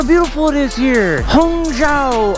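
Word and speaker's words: Hangzhou: Hunga. Hung is how you pronounce it.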